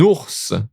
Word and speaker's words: ours: Un ours. Okay, un ours. Here we do pronounce it.